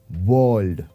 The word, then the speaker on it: world: Now here, again, when we pronounce the word, the letter R has a very light effect. If you carefully listen to this, world. Right? We don't say it as world.